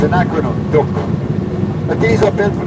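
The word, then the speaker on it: DUKW: you this vessel on this is called a duck it's spelled d u k w d d d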